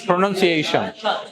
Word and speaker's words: pronunciation: এই ওইটা এ না, ওটা হচ্ছে এই তাহলে প্রনাউন্সিয়েশন, প্রোটা একদম আসতে হবে, হ্যাঁ, pronunciation, clear? হ্যাঁ, pronunciation, কারণ হচ্ছে আমার প্রাইমারি স্ট্রেস কার উপরে দিতে হবে, এই এর উপরে।